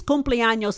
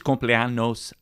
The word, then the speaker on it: cumpleaños: Feliz cumpleaños a ti. Feliz cumpleaños. Cumpleaños. No. Cumpleaños. Cumpleaños. That's right. Feliz cumpleaños. Feliz cumpleaños. A ti. A ti. That's right. You got it. Now you're speaking Spanish. Feliz cumpleaños a ti.